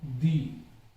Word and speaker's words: the: अर्थ, तो अब ये स्वर की ध्वनि है, इससे पूर्व यदि THE आ गया तो इसका उच्चारण क्या हो रहा है, दी। जैसे दी आइसक्रीम ऑफ कठुमर, कठुमर की आइसक्रीम, तो यहां पे आई, ये आई की ध्वनि आ रही है तो दी बोला जाएगा।